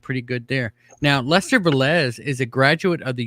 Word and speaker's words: Velez: time before the show to make sure i'm pronouncing your name right it's velez yes it is you got it right all right awesome so i did pretty good there now lester velez is a graduate of the university of vermont